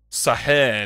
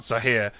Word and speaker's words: Saahir: If so, it's pronounced Sahir, not Sahir.